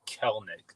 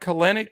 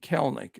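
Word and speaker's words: Kelenic: name Jared it's actually kelnick the E is silent so they were talking about broadcast yeah it's not kalenic it's a two syllable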